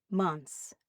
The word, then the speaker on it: months: Same with months. Months. You don't have to say months.